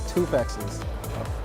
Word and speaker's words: Toufexis: I am here with Elias Toufexis.